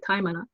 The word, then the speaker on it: taimana: And then so I discovered the word taimana, which is a Maori pronunciation for the word diamond. So they say taimana.